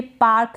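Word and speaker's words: park: क्या है पार्क है यहां पर आर को आप बिल्कुल थोड़ा सा प्रोनाउंस करें या फिर आप पाक बोले तो भी चलेगा यानी कि आर को प्रोनाउंस नहीं करेंगे तो वो भी करेक्ट प्रोनंसिएशन होगा पाक पी का प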